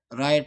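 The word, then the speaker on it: write: इसके बाद है नाइफ यहां पे के साइलेंट है। और यहां पे डब्ल्यू में राइट में डब्ल्यू साइलेंट है।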